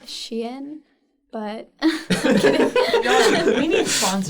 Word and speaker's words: Shein: Everyone buy Shine. Whatever this This is our is. sponsor for today. It's actually pronounced Shein, but We need sponsors.